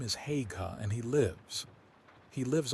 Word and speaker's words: Haigha: His name is Haigha." He pronounced it so as to rhyme with mayor.